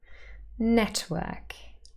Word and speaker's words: network: Network. However, an alternative pronunciation is network, network. And maybe you can hear the very sort of quiet little sound in the middle now.